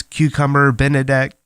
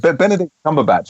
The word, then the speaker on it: Benedict Cumberbatch: So, and wasn't whoever that guy is, Cucumber Benedict? The man with the unpronounceable name, yeah. Cucumber Benedict. The breakfast. Sorry. I think Benedict Cumberbatch, I'm told, is how it's said.